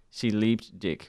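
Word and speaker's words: Sie liebt dich: Germany and it was I think it's pronounced she leaped dick which is she loves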